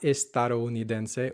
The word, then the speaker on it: estadounidense: Estadounidense or Estados Unidos, not estadounidense or Estados Unidos. Estadounidense. So that the should be soft. Mi amigo es estadounidense.